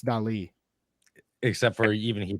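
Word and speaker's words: Dalí: It's Well, the Dali. I actually has an accent over it, Toby, so it's Dali.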